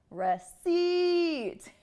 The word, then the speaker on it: receipt: this is incorrect so the correct syllable stress would be stressing the second syllable receit rece swe so how